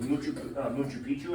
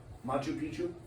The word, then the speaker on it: Machu Picchu: it now on to the second one is Machu Picchu I think is how it's pronounced Machu Picchu Machu Picchu is huge it's so big that